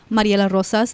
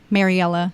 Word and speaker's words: Mariela Rosas: gonna bake yeah and Mariella roses I'm totally bastardizing your name it's fine Maria LaRosa that's like the proper pronunciation but Mariela it's fine hey Mary okay